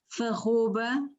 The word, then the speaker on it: alfarroba: Por exemplo, encontramos farroba, que é a pronúncia, enfim, a realização mais próxima daquilo que encontramos, que ouvimos muitas vezes no Algarve, em vez de alfarroba, não é? Aqui com a queda da primeira sílaba, não é?